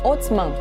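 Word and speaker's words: عثمان: se escreve assim e se pronuncia algo como otman os bizantinos foram os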